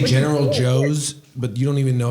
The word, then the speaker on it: Tso: How do you pronounce it? Joe, like Joe. Really? I didn't know that. Well, that's how I pronounce it. Some people get really complicated and then they say like so's like TSO how it's spelled, but it like doesn't matter.